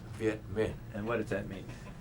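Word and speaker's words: Việt Minh: the French VI man uh how do you spell that v e t m m i n h vietman and what does that mean well actually it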